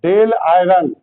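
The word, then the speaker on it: Dáil Éireann: आयरलैंड आयरलैंड की संसद का नाम है डेल आयरन।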